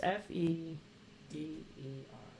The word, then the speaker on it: Feder: that the word that you were trying to pronounce it's f e d e r feder feder feder okay well that's number that's